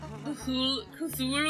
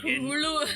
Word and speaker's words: Cthulhu: And then there's me being like, oh, you're saying it wrong. Cthulhu? You're supposed to choke it out because it's supposed to be Cthulhu. It's supposed to be like Cthulhu.